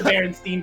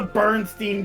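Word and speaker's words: Berenstain: who remembers the song you might be the only one who pronounced berenstein bears that way i mean they are the berenstein bears not the bernstein bear yeah would you just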